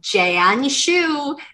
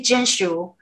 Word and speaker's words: Jinshu: get my coffee and they're always like jayan shu did i did i say it right how hard is it to say jinshu you know but it's